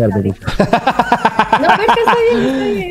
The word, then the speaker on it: Bershka: Más Rocha, que no sé pronunciar el perico. No, Bershka. Cherska, dice Cherska.